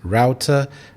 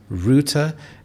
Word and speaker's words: router: The American English pronunciation is router, but in British English it is router, and this is a device that connects you to the internet.